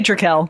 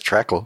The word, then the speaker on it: Trekell: So how do you pronounce? I say Trekell.